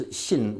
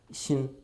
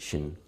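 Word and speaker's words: 心: As you get further east, it's called, it's in Chinese, the Xin. Did I get that right, Orca? Thank you, thank you. It's Xin, which originally in Pinyin it's transliterated like this. Xin.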